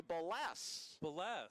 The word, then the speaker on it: Ballas: Got a text message, a follow-up text from Alaska, and apparently we've been mispronouncing Ballas Buckmaster. His grandpa says it should be Ballas.